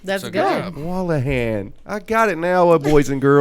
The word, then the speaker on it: Wolahan: I was like, oh, what is And you're the first person I've ever met that's pronounced it right. That's So good. job. Wolahan.